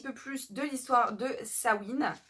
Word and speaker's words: Samhain: plus de l'histoire de samhain puisque ça se prononce sabine et j'ai encore beaucoup